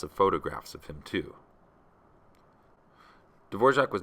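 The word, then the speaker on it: Dvořák: It's actually pronounced D'vorjac. You'd have to talk to someone who knows a little bit more about Slavic pronunciation than I do to explain why, but that's how you pronounce it. D'vorjac.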